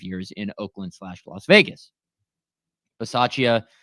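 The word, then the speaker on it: Bisaccia: up uh from Rich bace today Rich bace uh why did I say it like that rich bachia obviously knew Josh Jacobs better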